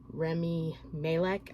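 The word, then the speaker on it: Rami Malek: can't say his name remy malek i think is how you pronounce his name but really really enjoyed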